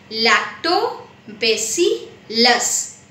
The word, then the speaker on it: lactobacillus: microbes a type of bacteria called lactobacillus the pronunciation of lactobacillus lactobacillus this is a bacteria and its work is